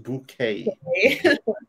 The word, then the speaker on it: Bucket: Kind of like people whose name is Bucket would like it pronounced bouquet.